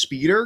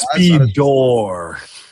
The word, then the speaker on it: Speedor: sets of like speedor. Let me I'm double checking this real quick. It it is spelled Speedor. It is I guarantee you it's spelled Speedor.